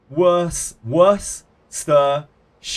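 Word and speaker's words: Worcestershire: to be very very if you want to annunciate very carefully it's exactly how it's spelled worse as in like w o r s e stir as in like prankster or something like that and then sh but that's usually like shortened to No problem.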